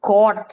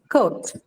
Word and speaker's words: coat: Is it a diphthong? It's a diphthong, right? It's not caught or caught. It's coat, right? So this is a diphthong.